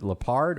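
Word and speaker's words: Lepard: Uh there's no leopards there, but it's Lep P. Did I say it right? Is it Leard or Leopard Preserve? So, I've been told it is Leopard Preserve.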